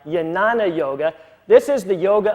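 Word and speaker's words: Jnana: as yoga system first yanana yoga yes it's spelled with a J but it's pronounced more like a Y yanana Yoga this is the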